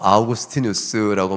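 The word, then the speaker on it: Augustinus: 아우구스티누스라고 말하는데 라틴어로 발음은 그렇겠죠. 영어적으로 우리가 보통 어거스틴 많이 알려져 있죠.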